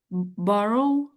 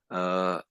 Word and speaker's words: borough: The Americans tend to say it that way. The Brits say it more as borough, Borough. borough. So Borough. we're sort of putting an I always think of an sound on the end.